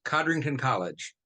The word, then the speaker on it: Codrington College: He has taught courses on the New Testament at several institutions, including, is it Codrington College? How do you pronounce that name? Yes, Codrington College.